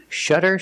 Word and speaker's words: shutter: These two words are pronounced exactly the same, but they mean different things.